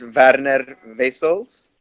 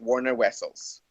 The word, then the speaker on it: Werner Wessels: might Bend me well it's actually pronounced as VAD Aneta Basil's and a lot of people don't know how to say that in the States so we just go with Warner whistles oh you're so cute